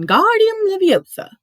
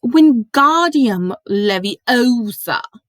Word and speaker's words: Wingardium Leviosa: much more luck when guardium leviosa he shouted waving his long arms like a windmill you're saying it wrong harry heard her money snap it's wingardium leviosa making the god nice and long you you do it